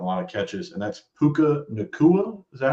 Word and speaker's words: Puka Nacua: My third guy is a dude who's been balling a lot lately too, getting a lot of catches, and that's Puka Nacua.